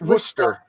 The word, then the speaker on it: Worcester: Wooster. Did I say it right? Wooster? Yeah. No. It's Worcester. Worcester.